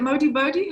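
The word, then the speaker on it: Modibodi: Is it Modi Body? How do you say it? Modi Body? Modi Body. Modified clothing for everybody.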